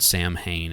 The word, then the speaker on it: Samhain: And then I also knew about, and yes, it was called Sam Hain. I know it's pronounced Samhain, but they actually called the band Sam Hain, which was Glenn Danzig's post Misfits band.